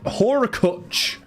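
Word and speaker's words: Hurkacz: Haircut is pronounced Horakuch.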